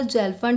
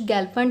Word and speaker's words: Gelfand: अभी division algebra पे based बहुत ही इंपॉर्टेंट थ्योरम है जिसे कुछ लोग जेल्फन थ्योरम से प्रोनाउंस करते हैं, कुछ गेल्फन थ्योरम बोलते हैं।